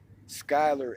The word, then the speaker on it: Schuyler: are do and Tae schuyler s KY l er that's my middle name